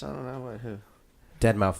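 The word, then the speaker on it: deadmau5: Dead mouse? I don't know. What, who? Dead Mouse 5, but yeah, you were close.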